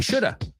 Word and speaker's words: should have: Fijaos, el have se convierte en of or a. Oirás muchos americanos decir I shoulda.